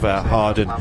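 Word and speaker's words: Hawarden: Harden, you pronounce it, yeah.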